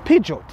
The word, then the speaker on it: Peugeot: the back seats, it's only right that we pronounce this car properly. Okay. Peugeot.